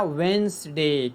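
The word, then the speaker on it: Wednesday: ए वेडनेसडे में D silent होता है, पढ़ा जाता है क्या? वेंसडे।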